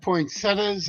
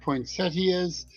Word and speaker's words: poinsettia: I I've heard poinsettas. I've heard poinsettias. It's a matter of uh matter of where you're from, I guess.